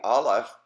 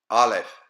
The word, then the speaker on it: Aleph: And so we will start at the Aleph on the right-hand side of the page, and